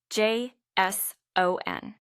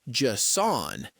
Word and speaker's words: JSON: J S O N. Ah, yes. The key here is where you put the stress, the emphasis. It's not Jon, it's JSON.